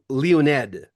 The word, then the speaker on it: Leonid: Russian Well, pronunciation. if you'd be totally like phonetically correct, which is not easy, right? We're but Leo. Leo. Leonid is the original way you say it, Leonid. So But you're in it's okay Florida.